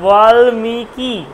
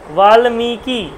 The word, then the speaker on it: বাল্মীকি: আসলো মিকারটা দীর্ঘ হচ্ছে, যেহেতু ওয়াটাও দীর্ঘ আর লয়ময় দীর্ঘিটাও কিন্তু দীর্ঘ, তাই জন্য উচ্চারণটা বাল্মীকি, বাল্মীকি, পরের কিটা কিন্তু একদম শর্ট ফর্মে আসবে, তাহলে জন্য উচ্চারণ হলো বাল্মীকি, পরিষ্কার।